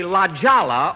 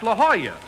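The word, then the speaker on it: La Jolla: I'm at the Laala Auto Court. It's a lovely place. Jack, that's not Ljala. It's La Hoya. That's how you pronounce it in Spanish.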